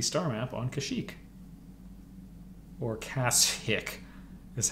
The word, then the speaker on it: Kashyyyk: will find the star map on Kashyyyk or Cass hick that's how it's supposed to be pronounced - trust me yeah undeveloped watch your